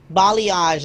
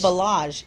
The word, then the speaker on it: balayage: So balayage is the way you pronounce it. I thought it was balage.